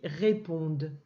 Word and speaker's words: répondent: p, on, pont, de, ça c'est muet. Ça fait réponde.